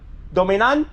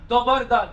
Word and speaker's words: Dobar dan: Dominan? Dobar dan.